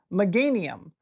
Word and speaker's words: Meganium: Meganium.